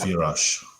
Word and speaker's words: Yurash: Yes, Sviatoslav Yurash.